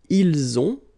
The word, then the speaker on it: ils ont: And then ils ont. So the link as well, the liaison.